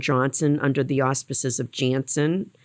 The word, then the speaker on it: Janssen: under the auspices of janssen some people pronounce it anson vaccine and that is